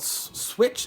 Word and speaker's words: Swytch: talk about this company called switch is I believe how you pronounce it and so it's